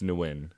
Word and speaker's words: Nguyen: out loud, so I never know how to pronounce it. It's Nguyen.